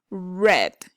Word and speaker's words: read: different read in present read in past like the color so read read read